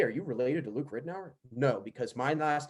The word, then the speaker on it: Ridenour: And now, again, Ridenour is how you say it, but I went through prep just Ridenour because I was like, I'm not going to correct everybody.